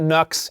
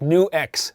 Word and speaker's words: NuX: got the pronunciation right it's not nux it's new x thank you all for